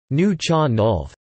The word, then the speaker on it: Nuu-chah-nulth: revived in recent decades topic knew you Chernov the newer John Dolph pronounced new and you or approximately new John Dolph are indigenous peoples in Canada their traditional home